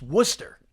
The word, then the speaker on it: Worcester: It's Worcester. Worcester. The Worcester Red Sox. Woonsocket's another town in Rhode Island that's also got a bad reputation. But for a right reason. Worcester, Mass, which is spelled Worcester.